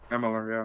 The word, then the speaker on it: Amalur: Tony Hawk Pro Skater, and that's Kingdoms of Amalur. Help me out here. I don't think I pronounced that right. Mm-hmm. There you go. I did? Wow. Amalur. There you go. Amalur, yeah.